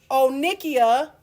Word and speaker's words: onychia: So, onychia or onychosis, I hear the word onika, which is Nicki Minaj with the big old inflamed butt.